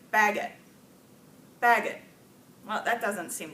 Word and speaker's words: baguette: gave another French word borrowed word from French baguette right yet so if we wanted to say bye get with a truck hey pattern so like baguette baguette well that doesn't seem to make any